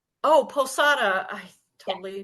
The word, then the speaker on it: Posada: how do you My pronounce your last name? Posada. Oh, Posada.